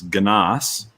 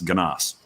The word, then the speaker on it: Gnass: It's actually, it's Gnass. It's German. It's German, and the A is supposed to sound like the O in pop. So there's supposed to be umlauts, and then the double S is supposed to be that weird B shape.